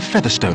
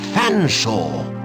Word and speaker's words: Fanshawe: Featherstone ha I presume I can't believe it nor can i sir I don't believe who cannot pronounce my name properly its Fanshawe but it it's a